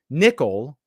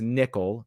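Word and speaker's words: Niccol: replace him with Brian nickel I'm guessing it's pronounced nickel even though Double C is KS sound the former head of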